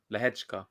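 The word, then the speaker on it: Lehečka: That's not how that's spelled either, but that's how it's said. Lehechka.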